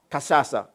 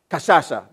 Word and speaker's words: Kashasha: But in 1962, three girls were at a school at a village called Kasasa. I think I pronounced it correctly. Kashasha, that is it.